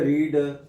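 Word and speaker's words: read: को क्या कहते हैं रीड यू हैव रीड लिखने में देखो रीड का क्या होता है स्पेलिंग से ही है और क्या आता है रीड रेड रेड तो यू हैव रेड और आई ए दी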